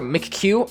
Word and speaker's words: McQ: We also have MCQ, or McQ, I think, is how you're supposed to pronounce it. I'm gonna pronounce it that way for the rest of this video.